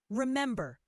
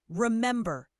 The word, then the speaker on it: remember: Remember. The second syllable is stressed. Remember. Repeat.